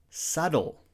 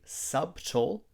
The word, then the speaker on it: subtle: to say castle castle subtle we don't say subtle we say subtle in this word the B is silent honest we don't say